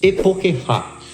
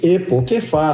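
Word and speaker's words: E po' che fa': Epokefá, pronunciamente. Epokeefá, sim, porque esse ch não é che, né? Tem esse somel.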